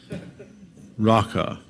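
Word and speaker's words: Raca: the way it's pronounced it sounds like the the noise you make when you're clearing your throat to spit i won't demonstrate but you can practice in the solitude of your room raqqa everyone who says that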